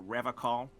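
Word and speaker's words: Revachol: I've been tempted on occasion, but someone has to stay strong for Revocol. He pronounces Revocol with a hard K, unlike other people.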